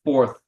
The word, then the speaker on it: Fourth: sound together so it's Fourth and your tongue comes out when you're saying the word so it's the fourth